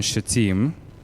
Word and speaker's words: Shittim: While Israel was staying in Shittim, that's how you pronounce that word, the men began to indulge